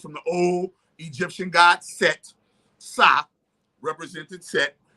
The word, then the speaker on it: Set: It was just S-T, Set, right?